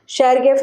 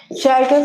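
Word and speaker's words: Chargaff: शेरगेफ rule लिखो। सब अपने अपने प्रोनाउंसिएशन करते हैं। मैं पहले शेरगेफ बोलती थी तो मेरे सर ने बोला शेरगेफ बोलते हैं।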